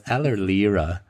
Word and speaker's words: Allerlirauh: Is that how you pronounce that? Yeah. Okay. So it's Allerlirauh, and the name actually means fur skin.